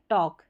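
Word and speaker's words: talk: यहां पर तो जो है टॉक में एल साइलेंट है।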